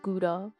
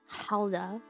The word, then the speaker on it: Gouda: Because, guys, it's not pronounced Gouda. Like, the cheese. That's Hauda.